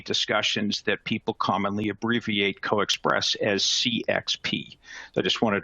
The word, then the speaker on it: CoaXPress: put it together and you end up with coexpress so i'm pronouncing it as co-express sometimes you'll hear people pronounce it as coax express but the preferred pronunciation normally is coexpress as